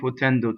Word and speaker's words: potendo: And gerunds in Italian are open. Endo, right? So both of the O's are closed. Why? Because the accent is on the E vowel, right? So anything that's on the non-stressed is closed.